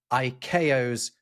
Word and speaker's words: ICAO: It comes It's really annoying that it's a four-letter thing, ICAO, but they've pronounced it IO, which just sounds like three other letters, which seems kind of right.